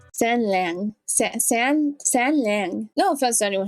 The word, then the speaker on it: San Lang: since he looks knowledgeable about Oh, Sanlang's so handsome in the donghua.